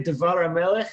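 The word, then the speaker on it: דבר המלך: But the accent is on the meh on Melech. Dvar HaMelech, or Dvar HaMelech. Interesting. Right? Yep. It's stressed as one word.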